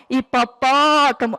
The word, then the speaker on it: hipopótamo: Na palavra hipopótamo, a sílaba mais forte é a sílaba pó, hipopótamo.